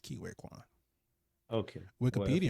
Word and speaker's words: Ke Huy Quan: And I Kiwi, might Kiwi, have mispronounced it. Kiwi Kwan?